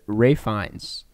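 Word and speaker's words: Ralph Fiennes: Holt Hong Chao and Ray fines uh who I always almost say his name incorrectly because it says Ralph yeah fans but it's Ray fines um and uh that's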